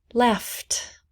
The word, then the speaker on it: laughed: Laughed, laughed. Laughed, laughed. No E sound.